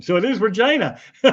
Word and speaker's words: Regina: City's slogan is the only city that rhymes with fun. So, it is Regina. See, I thought it was Regina.